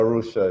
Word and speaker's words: Arusha: tanzania is this um russia is that you pronounce it yeah arusha yeah yeah yeah yeah yeah yeah russia is